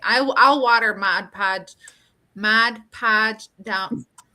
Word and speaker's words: Mod Podge: Mod Podge down. Am I saying it right? Mod Mod Podge.